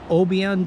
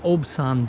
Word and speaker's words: Obyan: scooter once it gets packed down this is Oban Beach a lot of people pronounce it Oban Beach the locals told me it's pronounced obson Beach anyways we first get here there's a